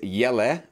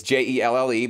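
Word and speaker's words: Jelle: this week's YouTube videos this is y la I think I pronounced that right I'm every yella it's je lle but he's from the Netherlands so my American you know butchering I'm pologize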